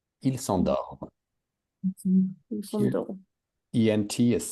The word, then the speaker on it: s'endorment: Ils s'endorment. Mhm. So ENT doesn't exist phonetically. Just finish it with an M. Ils s'endorment.